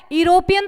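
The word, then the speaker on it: European: से हो रहा है यूरोपियन थोड़ी बोलोगे इसको यूरोपियन बोलोगे क्या नहीं यूरोपियन ई इज the silent तो साइलेंट है तो क्या यू का साउंड आ रहा है तो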